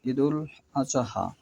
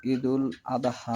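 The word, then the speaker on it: عيد الأضحى: এখানে যে কথাটা আমি নিব এখান থেকে যে ঈদুল আজহা যদি এটা আপনি উচ্চারণ করতে চান তাহলে সোয়াদের পর হরফ জোয়াদ ধরতে হবে। আর যদি আপনি আরবিতে ঈদুল আদাহা বলেন তাহলে দোয়াত, তার মানে সূরা ফাতিহার লাস্টে দলিন ঠিক আছে।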